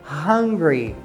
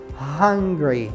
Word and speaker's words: hungry: som do H geralmente o som do h no inglês ele é pronunciado não é um som mudo como no Português então se fala como